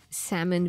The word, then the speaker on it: salmon: very nice it's like salmon versus salmon i can't stand it i'm pretty sure the l is silent there's a little l